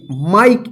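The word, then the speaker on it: Mike: इसको क्या पढ़ेंगे माइक इसको मिके मत पढ़िए ठीक है ना क्यों क्योंकि जो इ का उच्चारण नियम हम सीखे थे जिसमें इ तो रहेगा लेकिन इ का साउंड नहीं रहेगा तो क्या था इसका रूल कि जब किसी वर्ड में लास्ट वाला अक्षर ई रहे और उससे पहले वाला भवेल आई रहे तो आई का आई उच्चारण होता है ई का उच्चारण नहीं होता है तो क्या पढ़ेंगे इसको माइक इसी तरह से एम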